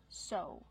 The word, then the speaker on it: sew: what about the verb so the verb is so use the long o sound like no and go so use so with a sewing machine what